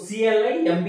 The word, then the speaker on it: climb: ఇక్కడ కూడా వర్డ్ మనకి MB తో ఎండ్ అయింది, సో ఇక్కడ కూడా B అనేది silent. So CLIMB is pronounced as climb.